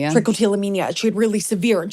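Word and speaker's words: trichotillomania: Trickotillamania. Trickotillamania.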